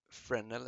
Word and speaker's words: Fresnel: it's French, and called Fresnel actually, and they're pronounced without the S, but I'm not 100%, but I think so. Let's make it unlit for now.